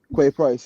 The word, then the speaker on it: Quay Price: And obviously, Chloe and sorry, sir, how do you say your name? Is it Qua? Is it Quay Price? Quay Price, yeah.